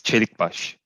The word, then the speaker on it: Celikbas: it came out yes then it's perfect yes cherry bush okay and you pronounce it now amazingly perfect thank you thank